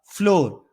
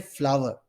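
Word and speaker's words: flour: से प्रोनाउंस करते हैं आटे को जब आपने प्रोनाउंस करना हो इंग्लिश में तो याद रखिएगा इसको आप बिल्कुल उसी तरीके से प्रोनाउंस करेंगे जिस तरह आप फूल को इंग्लिश में प्रोनाउंस करते हैं फ्लावर need the फ्लावर need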